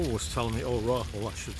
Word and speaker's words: Rahul: Raoul was telling me, or Rahul I should say. John Dumas couldn't pronounce Rahul, so he always called him Raoul, like the Spanish Raoul.